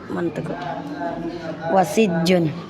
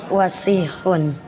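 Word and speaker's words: وَسِخٌ: Gak ada kita nyebut wasijun. Almindilu wasihun itu bukan ha. Bukan ha. Bukan K itu almindilu was. Nah, gimana bacanya? Wasikhun. Wasikhun. Wasun. Nah, jangan ditasdid. Emang ada tasdid situ tib.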